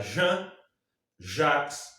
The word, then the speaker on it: Jean-Jacques: vasconcelos qual o pistão jean só que é francesa então vai se pronunciar jean-jacques o sol e aí